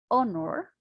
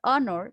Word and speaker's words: honor: The first letter of the word honor, for example, is a consonant. You can see the consonant is letter H, but it's unpronounced. What does that mean? That we can listen that word. So it's spite of its spelling. The word honor begins with a vowel sounds.